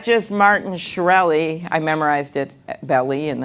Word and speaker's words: Shkreli: was this good person it's not just Martin shkreli I memorized it belly and then I forgot